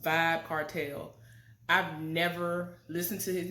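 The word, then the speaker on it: Vybz Kartel: this man's name or his stage name is pronounced vibe cartel I've never listened to his music like that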